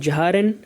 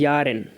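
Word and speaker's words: Jahren: that is yarn yarn don't forget the pronunciation that is not jaharin and that is yarn so because rn is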